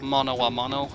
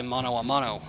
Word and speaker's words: mano a mano: hand, where you fight mano a mano, hand to hand. Let's see what Fifi has to say. Some people say mono a mano, or spell it wrong.